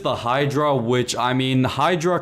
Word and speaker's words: Hydra: Next up is the Hydra, which I mean Hydra kind of rhymes with hybrid, and I would say this is a hybrid of both a helicopter and a plane in one.